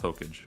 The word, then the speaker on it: Hokage: It is pronounced Hokage. We have him. Okage.